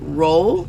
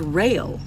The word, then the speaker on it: Roehl: So ROEHL, which I've been calling it roll, is rail.